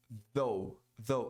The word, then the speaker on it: though: Though, aquele TH com a língua entre os dentes, pronunciando o som de Z. Though. Muita gente pronuncia though, não pronuncia esse TH corretamente. Aí soa massa, tipo massa de pizza.